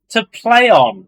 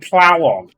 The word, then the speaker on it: Plaion: Yeah, well, I read it like AI is like Play, like yeah.